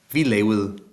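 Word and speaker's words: lavede: Vi level. Level. Level. All right, and a weirdly pronounced word because we have this weird V sound and a soft D and an E at the end, and so it'll come.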